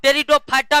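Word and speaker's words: Pteridophyta: तीसरा है रीडो रिडो और टेरिडोफाइटा में पी साइलेंट रहता है दोस्तों पी क्या रहता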